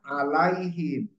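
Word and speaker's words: عليهم: kedua H dibaca dibac dibaca apabila sebelumnya ya suukun contohnya alaihim jadi alaihim ini bukan karena harfujarin ya bacanya him karena sebelumnya ya ya Su sukun Ya Sukun nah gitu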